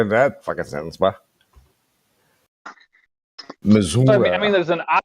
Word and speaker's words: Missouri: They also call Missouri Missouri.